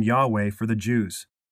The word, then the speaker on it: Yahweh: Jehovah was popularized in early English translations of the Bible, such as the King James Version, but it is not the correct way to pronounce the divine name.